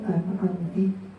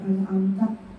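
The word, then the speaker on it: أَنْعَمْتَ: Ka'ayyakul an'amti atau an'amtu. Domir ini berubah ini. An'amta kan dibacanya an'amta apa an'amtu atau an'amti. Domir ini berubah ini merusak makna.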